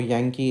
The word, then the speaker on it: Yankee: is Yankee okay and in phonetics the spelling for Yankee is given as y a n g I am unlining this word then k e e so in phonetics you have to pronounce the letter Y as Yankee Yankee Yankee okay so that is